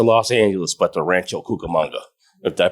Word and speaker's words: Cucamonga: It's a $12 billion high-speed rail from Las Vegas, not to Los Angeles, but to Rancho Cucamonga. Did I pronounce that correct? Yes, Cucamonga.